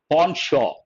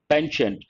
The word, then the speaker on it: penchant: india's current regime has a pawnshop no p sound no t sound please remember penchant better to use a american pronunciation pension what does it mean